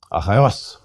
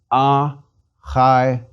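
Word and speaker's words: Ἀχαιός: Achaios. Smooth breathing. Second syllable is a diphthong. Accent is on the last syllable. Please repeat. Achaios.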